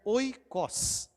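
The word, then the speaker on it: οἶκος: salvar os nossos oó é uma palavra grega tá ela se pronuncia oicos nós vamos falar muito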